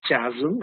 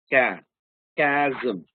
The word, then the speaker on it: chasm: it should be casm the word is not pronounced Chasm it's pronounced C km it's a gap so